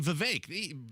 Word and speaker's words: Vivek: Later, we found out it's actually Vivek. He was around for about a year before we found out that was the correct way to pronounce his name.